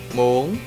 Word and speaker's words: muốn: In today's video, I will teach you how to use the word muốn chết in Vietnamese. Now I will teach you how to pronounce the word muốn chết.